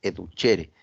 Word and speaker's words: educere: del concepto latino educere se pronuncia se escribe duere pero se pronuncia educere Qué significa alimentar alimento por